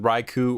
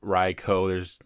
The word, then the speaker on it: Raikou: So let's start with Raikou or Raikou. They say it two different ways in the show and other stuff, so it doesn't really matter how you pronounce it.